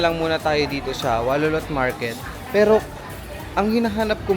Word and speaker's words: Warorot: Yun walolot pag binasa mo siya guys is Waroorot pero ag yung tamang pagbigkas daw is walolot.